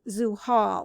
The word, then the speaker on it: Zuhal: for the saturnine deity in these books is zoo hall that's spelled z-u-h-a-l which means the one who is